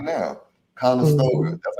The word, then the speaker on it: Conestoga: Conestoga.